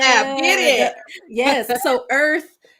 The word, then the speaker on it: Irth: So Earth, and Earth is spelled IRTH. It like birth, but without the B.